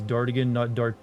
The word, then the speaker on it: Dartigan: out at this moment your name is Dartigan, not D'Artagnan, I guess is what you thought. Technically it is. It just Dartigan is just how I always pronounced it and spelled it before I